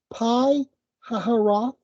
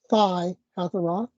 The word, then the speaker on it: Pi Hahiroth: And they set out from Etham and turned back to Pi Hahiroth, could also be pronounced Phi Hahiroth, which is east of Baal Zephon.